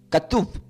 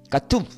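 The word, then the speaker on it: כתוב: griego y del hebreo se pronuncia como con cada kilo catuf. Katuf. Y la k, la a, la t, la u con acento y la v corta.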